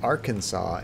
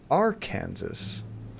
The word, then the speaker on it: Arkansas: Y'all got the crazy Arkansas and Kansas not being pronounced the same.